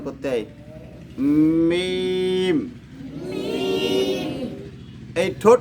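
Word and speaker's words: ميم: যে শুকনো যে জায়গা এই জায়গা থেকে মিম উচ্চারণ করতে হয় মিম মিম এই ঠোঁট না লাগায়ে মিমটা বলেন তো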